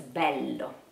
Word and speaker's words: bello: And it's okay, but you have to know how it sounds when you speak. So you are not going to do this bello, bello. You cannot do that. It's bello, okay?